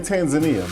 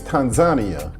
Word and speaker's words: Tanzania: city Dar es Salaam I was used to say in Tanzania but the locals let me know that the right pronunciation is Tanzania the visa to enter